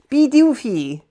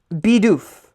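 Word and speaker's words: Bidoof: I hear people say beofy. Bey. Okay, it is just Beoff.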